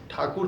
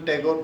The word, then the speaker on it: ठाकुर: जैसे और इनका जो सब टाइटल है वो ठाकुर था, परंतु जो इनके परिवार वगैरह को जो अंग्रेज लोग थे वो ठाकुर जैसे प्रोनाउंस नहीं कर पाते थे।